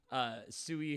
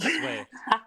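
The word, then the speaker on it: Sui: Suey has the golden cocaine spoons and people that pronounce it sway. So I think some Swear.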